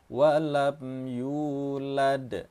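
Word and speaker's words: ولم يولد: Di sini ada mim yang berharakat sukun bertemu dengan ya, sama juga dengan ini ya, jangan didengungkan atau jangan ditahan. Walam yulad, begitu saja cara bacanya.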